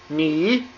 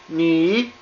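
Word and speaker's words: 你: This now this is pronounced ni knee.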